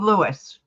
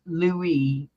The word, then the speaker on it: Louis: you're right yeah King Lewis not Lewis Lewis Lou Lou yeah King Lou King Louise King Lou Louis Louie the S is silent Louie yes like camella's